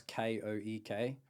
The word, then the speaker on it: Koek: it's Koek, pronounced Cook, but spelt real weird. Dutch heritage, so that's cool. Yeah. Instagram and just Luke Koek Facebook.